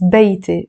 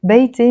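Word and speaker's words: بيتي: It's beiti. Beiti means my house. In standard Arabic, we will not pronounce it beiti, we will pronounce it beiti.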